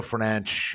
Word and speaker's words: Fernandes: It's also he's Portuguese, so he pronounces his name Bruno Fernandes, and it's stupid.